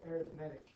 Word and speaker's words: arithmetic: Now I know that we're used to reading that word arithmetic, but in this case it's pronounced arithmetic.